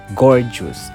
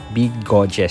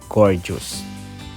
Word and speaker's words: Bgojes: And by the way, the proper na pag-pronounce kay gorgeous ay gorgeous. As in maganda kasi if wala kang idea sa kanyang tawag, masasabi mong big godes siya.